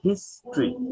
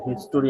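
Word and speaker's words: history: ই আর এটার উচ্চারণ হচ্ছে টিচার এরকম এটার উচ্চারণ হচ্ছে ক্রিয়েচার চার নম্বর শব্দটা হচ্ছে হিস্ট্রি এটা হিস্টরি আমরা বলবো না হিস্ট্রি হিস্ট্রি হিস্ট্রি mystery mystery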